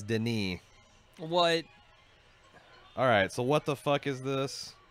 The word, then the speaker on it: Denis: them yeah oh and it's not Denis is Denis white alright so what